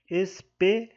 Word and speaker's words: espelho: Na letra C, espelho, a sílaba tônica é o P. Aqui, ó, espelho. A sílaba mais forte é o P. Então, mais uma vez, se trata de uma paroxítona, cuja sílaba tônica é a penúltima.